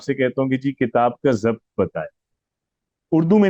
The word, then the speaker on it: کتاب: بتائیں گے کہ جی کتاب میں کاف جو ہے وہ مکسور ہے، تا مفتوح ہے، الف ساکن ہے، اور پھر با ساکن ہے. ٹھیک ہے، تو کتاب، تو آپ نے تلفظ بتایا ہے.